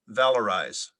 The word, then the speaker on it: valorize: price to a commodity usually by governmental intervention valorize is there any alternate pronunciations there are not valorized am i pronouncing